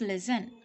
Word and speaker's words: listen: it's often now listen we won't say yes listen it's listen rustle it's not raster